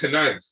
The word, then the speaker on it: knife: That's like saying that's like saying knife, right? What? Why? That's like bring me the knife. You like, what the hell you talking about? It's a knife. That K is silent.